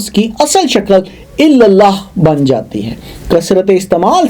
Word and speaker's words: اللہ: کوئی نقطہ نہیں ہے۔ اب اللہ کا ذرا تلفظ کریں اور سمجھیں کہ آپ اسے کیسے ادا کرتے ہیں۔ آپ اس کے حروف کو اپنے حلق کے پچھلے حصے سے ادا کرتے ہیں بغیر ہونٹوں کو حرکت دیے۔ اس کا مطلب ہے